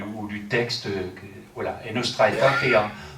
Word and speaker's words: Nostra aetate: du texte voilà et nostra estit en latin euh ça veut dire de notre temps ou à notre temps hein nostra et et ça s'écrit a e t a T e puisque c'est du latin alors euh le texte